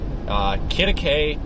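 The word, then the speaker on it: Quitaque: Kittakay, Texas. It's spelled Q or whatever, Q-U-I-T-A-Q-U-E or something. It's like some Spanish word I can't. It looks like Q to Q or something on the map.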